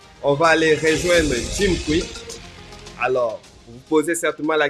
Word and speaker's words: Kwik: mémoire Jim quick oui le nom c'est quick comme fast quick mais ça s'écrit pas